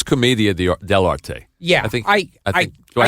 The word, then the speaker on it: Commedia dell'arte: the Marx Brothers were, however you pronounce it, Comedy dell'arte. I pronounce it Commedia dell'arte, but that's good. Yeah. I know. You may be right and I may be wrong. No, I have no idea. I think it's Commedia dell'arte.